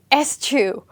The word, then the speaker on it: eschew: next option ah okay that's almost how it's pronounced atu this is estu and this word is not so common for the reason that it's very hard to pronounce and it's almost like we are sneezing so estu means again